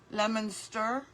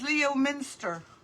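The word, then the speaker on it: Leominster: Lemonster. Oh, pronounced lemonster. Oh, sorry. I said it wrong, but you know what it says? Leo Minster. Sorry. Sorry, Lemonster.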